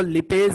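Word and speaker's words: lipase: लाइपेज या कुछ लोग इसको लिपेज भी प्रोनाउंस करते हैं.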